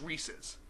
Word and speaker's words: Reese's: Okay, if it was Reese's, it wouldn't rhyme with pieces. Unless it's Reese's Pieces, which doesn't really work. I'm sorry. The marketing guys knew what they were doing. It's Reese's.